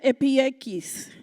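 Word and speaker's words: ἐπιεικής: amables en el griego Se escribe o se pronuncia epieikis. Para este mundo greco-romano, la palabra epieikis, tenía una cantidad de resonancias.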